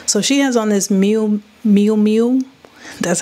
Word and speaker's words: Miu Miu: So she has on this Miu Miu, that's how you say it, cropped gray sweater, which is the trend we're going to be looking at.